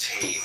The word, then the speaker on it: Teth: Comment on teth. Teeth pronounced ta transcribed as t number nine meaning serpent.